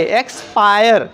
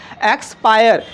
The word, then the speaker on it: expire: यहाँ पे आप लोग देख रहे हैं कि जिस वर्ड में आई RE के पहले आ रहा है आ जाए तो उस आई का उच्चारण आई हो रहा है ना।